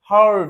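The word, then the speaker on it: heard: কিন্তু যখনই ডি চলে আসে না তখনই এর উচ্চারণটা হারড এরকম ভাবে উচ্চারণ হয় ঠিক আছে এটা মনে রাখতে হবে এ উচ্চারণটা হারড হারড মানে শোনা ফ্লি হারড মানে ওই ফ্লিটা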